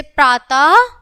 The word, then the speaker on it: प्रातः: अह का उच्चारण अह के समान होता है। है लास्ट में ध्वनि जो निकलेगी बच्चों जब हम कुछ भी विसर्ग बोलेंगे तो उसमें है का है का मतलब उच्चारण सुनाई देगा।